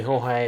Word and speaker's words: Jorge: It's spelt Jorge. I go by George, but you can call me Jorge. It's really not a big thing.